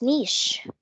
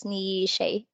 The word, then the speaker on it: niche: we pronounce this as Niche so before when I was not that knowledgeable enough I used to pronounce this word as Nisha but it's a niche okay originally meaning a